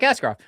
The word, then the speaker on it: Askarov: Anybody's paying attention across the NHL, because it rhymes. Don't piss him off like Askarov.